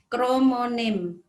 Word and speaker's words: kromonema: bagian kelima ini adalah kromonem, kromonema tulisannya ya, bacanya kromonem.